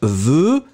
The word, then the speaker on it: veux: And remember that when you will conjugate it in the singular form, so, je veux, V-E-U-X, final X not pronounced.